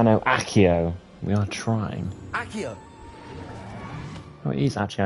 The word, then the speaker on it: Accio: Accio!